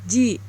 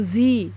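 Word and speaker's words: じ: Namun di sini saya ingin memberitahukan mengenai pengecualian, yaitu huruf shi. Bila diberi teng-teng, maka bunyinya jadi ji, bukan zi.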